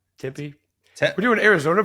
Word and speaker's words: Tempe: than Tempe Arizona I Tempe Tempe is temp tempy we're doing Arizona pronunciations